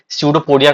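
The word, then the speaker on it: pseudopodia: बार हम जो है स्यूडोपोडिया का नाम दे देते हैं। स्पेलिंग को बड़े ध्यान से लिखिएगा, पी से स्टार्टिंग है जैसे साइकोलॉजी, जैसे स्यूडोपोडिया।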